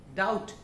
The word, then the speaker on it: doubt: डाउट डी ओ यू बी टी, इसमें भी हम बी प्रोनाउंस नहीं करते, टी प्रोनाउंस होता है, बी साइलेंट रहता है.